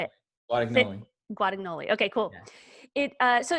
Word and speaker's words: Guadagnoli: Guadagnoli.